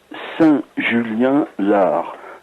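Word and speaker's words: Saint-Julien-l'Ars: BP 3 86 800 Saint-Julien-Lard. Lard, ça s'écrit L'_ARS.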